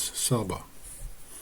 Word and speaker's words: Saba: where Queen SAA was in the Bible it says Sheba but you pronounce her name actually as Saba the queen of the